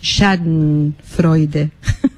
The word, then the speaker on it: Schadenfreude: profesora de alemán, que me explicó cómo se pronuncia, y es Schadenfreude.